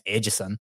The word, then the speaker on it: Edson: i mean it's ed's if he says it in south florida it's edson barboza right if he goes to the coffee shop he goes to starbucks he's not saying my name's ageson like i don't can't